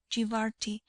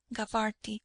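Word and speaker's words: Jabarti: generations, and had taken the name Jibarti, or, as it is pronounced in Egypt, Gabarty, from their first home, Jibart being one of the names by which Zeilah is still known.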